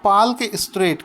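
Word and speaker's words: Palk Strait: जाता है कि बताओ पाल के स्ट्रेट कहां पर स्थित है वैसे तो इसको पार्क बोलते हैं क्योंकि इसमें साइलेंट होता है तो यह जो पाल्क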